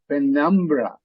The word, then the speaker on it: penumbra: can look up so hear the stresses on the second syllable penumbra and penumbra again another